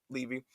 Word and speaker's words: Levy: Judy Levy, I believe, Levy or Levy, I believe it's pronounced Levy, um, execute, hold on, let me see.